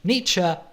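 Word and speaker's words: Nietzsche: In the 19th century, a mustroy German named British niche that's right that's how you pronounce his name was very critical of many groups in society like psychologists, scientists, religious people and so on.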